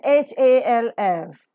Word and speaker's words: half: after medial position and h-a-l-f L is silent here half that's right the problem